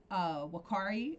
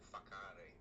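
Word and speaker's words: Whakaari: Um, to go back to your piece on Wakari, am I pronouncing that correctly? Yeah, WH is becomes an F, so it's more like a fakari.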